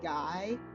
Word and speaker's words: Guy: Guy, and I was like, wait a minute, Guy is a real last name except it's pronounced G.